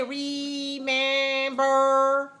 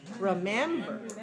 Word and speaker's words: remember: word man is longer so short long short remember remember remember the and has to be clear clear and sound cannot say uh but you have to say e has to be long high and clear and the first the syllable the first syllable and the last symbol are just very weak so we don't say remember no we say short long short like this remember remember and when